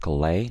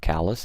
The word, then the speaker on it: Calais: And by the way, guys, this is pronounced Calais, not Calais. It's a city in northern France.